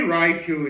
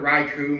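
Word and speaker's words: Raikou: But and yes, I'm very well aware that I've been changing the the the pronunciations of Raichu throughout the video so far. I mean, I've heard Raichu more than Reicho, but I guess, you know, it's made of Tomato.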